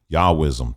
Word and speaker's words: Yahwism: tell me more about Yahweh ISM uh yahwism yahwism that's what how you say it outside of